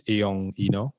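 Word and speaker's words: Eyong Enoh: but making sure I pronounce your name it's iong Eno yes correct how yeah a bit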